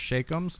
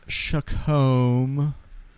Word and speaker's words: Chacom: i said yeah i'll take some of those shakums it's per it's it's spelt c-h-a-c-o-m i keep thinking where the millers